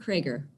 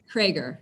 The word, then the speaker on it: Craker: How do you pronounce it? It's Craker. Yep. Okay. Craker is my last name.